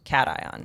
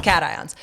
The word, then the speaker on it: cation: And I Google it and is a positively charged ion technically pronounced cation. It's a scientific word and you are sitting here thinking literally it's cat ions.